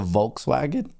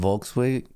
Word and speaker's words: Volkswagen: stocks Market isn't the the v in Volkswagen wagon must be pronounced the same as F in fire folks Volkswagen I is that true